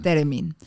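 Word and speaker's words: theremín: ¿Cómo se dice? Teremin. Teremín. El instrumento es ruso.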